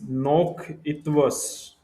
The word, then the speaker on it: noch etwas: It means that is nok it was. It means one more thing. Nok it was. This is how you have to pronounce.